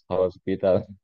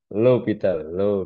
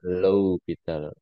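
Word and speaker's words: L'Hôpital: 0 per0 ya biasanya tapi kamu jangan baca Hospital Hospital ya lital lital sama kayak ini ini ya Ini bukankan eer bacanya Ya tapi oiler oiler ini cara bacanya lowital low pital low pital kalau ini bacanya oiler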